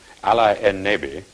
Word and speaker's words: Allenby: Now, curiously enough, Allenby's name, pronounced as an Arab would say it, Ali en-Nabi, means prophet of the Lord.